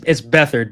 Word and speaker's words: Beathard: It's Beathard, but yeah, it looks like it's spelled just like Beathard.